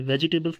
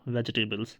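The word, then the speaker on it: vegetables: ये वेजिटेबल्स नहीं है। याद रखना इसकी प्रोनाउंसिएशन है वेजिटेबल्स। इसमें जो जी के बाद इ है ये क्या हो जाता है?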